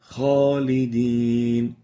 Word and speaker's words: خالدين: So let's listen to the right way of pronouncing it. Khalidin, خالدين Khalidin, kha, not kha, kha, not kha. Make sure to give the kha its tafkhim characteristics.